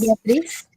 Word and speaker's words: Beatriz: More Hispanic? Beatriz? Yes. Beatriz. Beatriz. There you go.